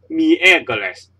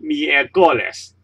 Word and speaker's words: miércoles: civil with this essence so you'd say miércoles not me a goalless me a goalless sabado and not sabado because the stress is on this syllable and the stress is